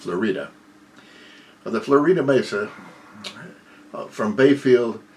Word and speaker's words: Florida: by the way a spell like florida but pronounced florida the florida mesa from bayfield to the florida